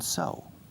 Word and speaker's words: sew: And you thread the needle, and then you can sew. To sew. S-E-W. Escrito seu. Pero se pronuncia como sew, como con el caballo.